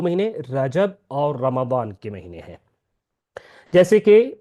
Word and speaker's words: رمضان: دوسری بات یہ کہ یہ جو رمضان کا تلفظ ہے وہ رمضان ہے، رمضان نہیں ہے۔ اب اگلا سوال یہ ہے کہ رمضان کا جو لفظ ہے اس کا معنی کیا ہے؟